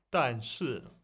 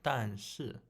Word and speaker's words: 但是: Like, you're saying like 但是, but you have to say it like go up a bit, down and then up like 但是. Make it a bit longer, like 但是. Like the first one's long and the second one's short.